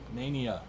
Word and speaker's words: Nania: Nania is the proper pronunciation.